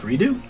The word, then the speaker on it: Redux: which is technodrome i i don't understand why they call it redux because it's pronounced redo but after this it